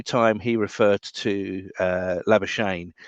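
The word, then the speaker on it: Labuschagne: he referred to uh lavashayne he was actually using the south african uh pronunciation which is lava scagni and it was quite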